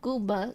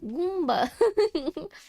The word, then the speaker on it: Goomba: Let's get you made at home Goomba Goomba Goomba Goomba My brain I was I couldn't say the M because the gum was in between my teeth. Goomba, not Gooba. Goomba.